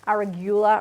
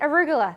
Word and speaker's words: arugula: in the states that's i think it's called aragulla or aguila or something i can't pronounce it you'll have to tell me how to say it oh that's it arugula that's it good i love rocket all